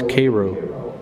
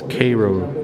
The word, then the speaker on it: Cairo: bayonets and guess what I've been saying it wrong the whole time it's Cairo foreign but it's Cairo not Cairo only an idiot would call it Cairo but uh this is